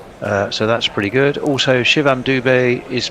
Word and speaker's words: Shivam Dube: Doob. If you're Canadian. Oh, yeah, you'd be just going, A at the end, yeah. Shivam Dubey. Yeah. Needs an acute accent on the E.